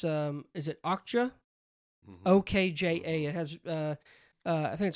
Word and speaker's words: Okja: that Snowpiercer and I think it's is it Okja? OKJA. It has I think it's Okja.